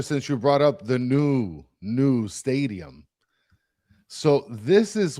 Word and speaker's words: Nu: It's new, N U, like it's new. So, but it's pronounced new.